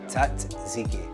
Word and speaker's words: tzatziki: Dude, is there an extra T in it? Yeah, tzatziki. Yeah, look. Oh, wow. If it's spelled the way it sounds out, it's T-A-Z-I-K-I. Tzatziki.